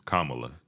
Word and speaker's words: Kamala: Gonna Get Us canceled what is it it's Kamala you saying they like the wrestler the wrestler Kamala you saying like the wrestler I put the wrong emphasis on the wrong salable um and here's another